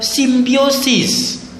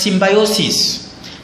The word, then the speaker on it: symbiosis: The last type of feeding is what you call symbiosis, or others may pronounce it as symbiosis.